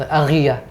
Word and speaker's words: Ariya: That's how to be pronounced. Ariya. Ariya.